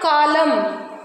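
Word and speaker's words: column: इज the first word कॉलम कॉलम N silent we are writing but वी आर not reading next atom डाम हा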